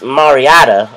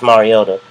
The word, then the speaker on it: Mariota: the second pick and I emphasize his last name because our in Infamous commissioner of the NFL Roger Goodell uh butchered Mar he called him Marcus mariata on National Television last night but uh